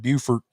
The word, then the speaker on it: Beaufort: I'm from Beaufort, and anybody that doesn't, Beaufort and Beaufort. So you got Beaufort, South Carolina, Beaufort, North Carolina, spelled the same, pronounced differently.